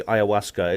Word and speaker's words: ayahuasca: a word from the amazon indians it's actually pronounced simply ayahuasca it's perfectly easy to pronounce it looks strange